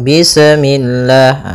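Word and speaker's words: بسم الله: Bismillah. Ah, seperti itu tuh misalnya bismillah. Ah, ini memantul. Kemudian lafal Allah ketika sebelumnya kasrah maka dia dibaca dengan tipis ya dengan L. Bismillah tidak bismillah ya.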